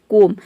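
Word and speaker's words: comb: अब यहाँ पे COM, केवल इसी को हम प्रोनाउंस कर रहे हैं कोम, बी को प्रोनाउंस नहीं कर रहे हैं।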